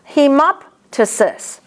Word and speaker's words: hemoptysis: If it's in the middle, you have to pronounce it. Hemoptysis.